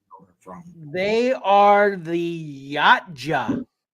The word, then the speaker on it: Yautja: They are the Yatja. Yatja. Yeah. One word. One word. Who Two gave syllables.